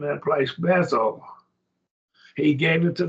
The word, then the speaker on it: Beth: The Hebrew word for house is Beth. Beth, we call it Beth, but Beth, I believe, is probably a better pronunciation.